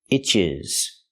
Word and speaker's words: itches: You hear the T and it pronounces a fast D.